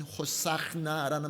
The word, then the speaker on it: 호산나: 호산나 호산나 히브리어로 발음하게 되면 호사나라는 말인데 여호와여 우리를 당장 구원하소서라고 외쳤던 것입니다.